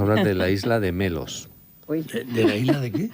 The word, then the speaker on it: Melos: Melos. ¿Cómo suena? Sí. Como melón, pero con ese.